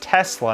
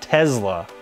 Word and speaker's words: Tesla: Tesla Tesla Elon Musk learn how to pronounce an S it's not a Z he doesn't call it the models Model S it's Tesla not Tesla I'd probably take a